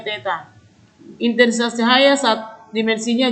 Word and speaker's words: theta: Kalau dia massa dimensinya M, kalau waktu dimensinya T, kuat arus dimensinya I, suhu dimensinya theta, yang seperti huruf O di garis tengah itu membacanya theta.